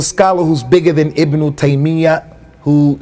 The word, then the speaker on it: Taymiyyah: the scholars said that the correct way of pronouncing his name is Tamia with a shed and the yeah many people make it with tuck fief and they say Tamia their correct way is Tamia but that's what we're